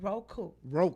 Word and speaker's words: Roku: How you pronounce that? Roku.